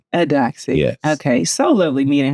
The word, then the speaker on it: Eudoxie: Eudoxie? Adoxie.